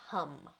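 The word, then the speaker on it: ham: So this seed sound for the throat is spelled H-A-M, but it's pronounced hum.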